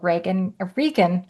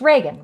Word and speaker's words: Reagan: So Regan, why am I have a friend that spells his name wrong and now I'm lost. It's Reagan, right? Yes. It is, yes.